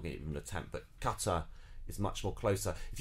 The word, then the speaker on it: Qatar: going to point to qatar qatar because apparently we've stressed on the first of all is closer to how the the arabic say it and which is very very difficult to say i mean